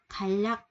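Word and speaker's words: 개략: Xăm bón, số 3, số 3 mình có là khai lắc, khai lắc, khai lắc. Nên mình đọc là lắc nha, đọc là chữ L nha.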